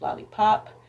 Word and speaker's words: Lahlipop: my name lana l-a-h l-a-h-l-i-p-o-p it's lollipop and of course now